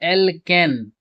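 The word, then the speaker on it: alkane: तो प्यारे बच्चों, जब एल्केन, तो जब इसका उच्चारण करते हैं तो एन आता है अंतिम में, एल्किन, तो उच्चारण करते हैं तो इसमें इन आता है, एल्काइन, और जब इसका उच्चारण करते हैं तो आइन आता है, ठीक है।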